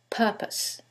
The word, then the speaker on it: purpose: And in the second one, it's the first syllable, and that changes the pronunciation completely. The first word is propose and the second word is purpose.